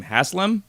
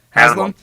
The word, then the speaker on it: Haslam: However, it seems that the front office and owner, Jimmy, I never remember how to say his name, Haslam, I think is how you say it. Haslam.